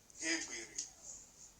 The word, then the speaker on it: gebiri: And number two, the G and the second vowel, which is G and A, it is pronounced G, E-G, Gebiri.